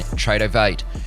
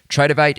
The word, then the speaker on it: Tradovate: Tradeovate is spelled Tradovate.